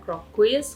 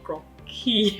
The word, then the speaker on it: croquis: Oke, kalau di Indo kita ngomongnya crop quiz, kalau misalnya di French-nya sendiri bacanya sepertinya adalah croquis yang benar ya.